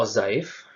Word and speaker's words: ogive: 0-30 itu berikutnya adalah ozaiv tulisannya Ogive dibacanya ozaiv ini diambil dari daftar